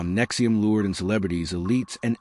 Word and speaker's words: NXIVM: Nexium, pronounced Nexium, Nexium's core offering was the Executive Success Programs ESP.